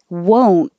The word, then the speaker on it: won't: do you want there won't you keep your lips rounded the whole time so it sounds like whoa won't i won't go